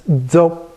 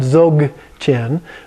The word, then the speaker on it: Dzogchen: And the reason is that it's pronounced halfway between a G and a K. So it's Dzogchen. chin, and it's more like a stop than like a hard G. Like it's not zog chin or zok chin, but it's just a stop, zok chin.